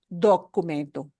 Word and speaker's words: documento: So we want to make sure we pronounce it as documento, documento, documento, físico.